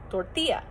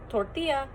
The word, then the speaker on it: tortilla: And now, if we see a double L in like cellar, we know that's an L sound. But since tortilla is Spanish, we know, or maybe we don't, that makes a yes sound.